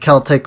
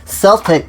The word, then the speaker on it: Celtic: Now, Uled is, I guess, based off of Ireland, as this is all like Celtic mythology, or excuse me, Celtic mythology, as I've recently learned it is actually pronounced.